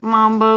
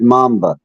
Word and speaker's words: mamba: snake is called black Mambo but the dance and the snake have nothing in common um that's interesting I actually the snake's name is pronounced mamba oh okay African uh